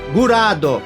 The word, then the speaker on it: Graad: série 3D como Gurad, e se aproxima mais da pronúncia japonesa, Gurado, Fundação Grad, Gurado Zaidan, Vander Grahad, Benda Gurado.